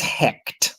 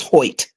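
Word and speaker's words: Hoecht: He's the the linguistic pronunciation is heck. Everybody on TV. Yes. Everybody on TV says Hoit.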